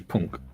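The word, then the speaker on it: pwnc: I know pink is punk p n k uh no p w NC so in Welsh the letter W is pronounced as a oh like you know like a lowercase U Punk right they're a weird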